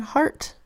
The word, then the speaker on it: heart: e sound where have you been next word heart h EI r T says ei R makes three sounds ear err and err but in heart it says R that's unexpected so heart is a sight word now the last thing